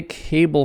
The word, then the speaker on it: cable: So remember, these are long vowels. Cable, cable. And also the syllable length cable. Stressed syllable A. Bull is unstressed, so it's very, very short and maybe hard to hear.